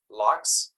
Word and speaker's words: Lo: sellers Factory podcast my guest today is Jeff Lo is this the right way to say Jeff